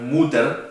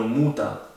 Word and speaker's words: Mutter: La ER se pronuncia como A. Por eso, papía no se dice papier, sino papía. Lo mismo con madre, no es mutter, sino muta.